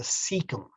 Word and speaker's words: cecum: this organ called the cecum c-e-c-u-m it's pronounced like it's a s sound so c is a